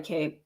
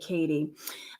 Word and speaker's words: Kate: Yeah, Kate M says, "And if I mispronounced your name earlier, I'm sorry, Kate. I feel like I said Katie."